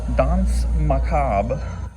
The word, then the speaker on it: Danse Macabre: Dons macab is how it's pronounced.